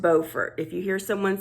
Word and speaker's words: Beaufort: So it's in Beaufort, and yes, it is pronounced Beaufort. If you hear someone saying Beaufort, they're either A, mispronouncing it, or B, they're talking about Beaufort, South Carolina.